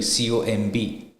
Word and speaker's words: comb: cheap, the letter B, C-O-M-B, right? But you pronounce it as comb, C-O-M.